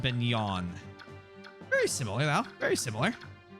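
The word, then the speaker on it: Begnion: The Empire is pronounced Beignon.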